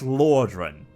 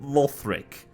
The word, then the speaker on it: Lothric: about that lauric 100% i am going to mispronounce that as Lordran because I've got Lordran in my head or you named lothric starting with Al it's going to happen